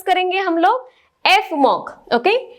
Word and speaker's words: Fmoc: एफ मॉक। Okay, इसको एफ और मॉक ऐसे प्रोनाउंस करते हैं।